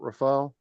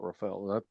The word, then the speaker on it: Rafale: Oh, they have the Dassault Rafale.